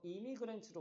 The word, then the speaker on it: immigrant: 이게 발음은 M이가 아니라 똑같이 임이거든. 근데 이건 임을 강조해. 얘는 이를 별로 안 강조.